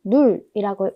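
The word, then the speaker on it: null: 0은 독일어로 눌이라고 읽습니다. 우 뒤에 자음이 두 개가 들어왔습니다. 그러면 이 우는 길게 발음해야 될까요? 짧게 발음해야 될까요? 모음 뒤에 자음이 두 개가 오는 경우 모음은 짧게 발음합니다. 그래서 눌이라고 발음하시면 됩니다.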